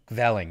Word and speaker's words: kvelling: Kvelling. You have to say it like that. Kvelling. You're never gonna get it right because you're British.